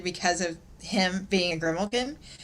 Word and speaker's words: Grimalkin: Yeah, and when you hear that, is it Grimalkin? Is that how I pronounce it?